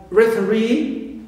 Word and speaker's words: referee: Also e, like referee. So re is stressed, right?